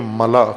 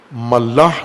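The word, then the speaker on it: ملأ: ملا ملاح نہیں ہے، بعض غلط تلفظ کرتے ہیں. ملا، میم لام الف حمزہ، ملا، جیسے خلا ہوتا ہے، خلا، غلط تلفظ خلا کرتے ہیں اردو میں، یا اردو سے ملتی جلتی زبانوں میں خلا نہیں ہوتا، خلا، اور اسی وزن پر ہے ملا.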